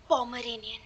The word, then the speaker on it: Pomeranian: Probably a 'Pomerian' (mispronounces twice) (seethes) It is not 'pomerian', it is 'pomeranian'.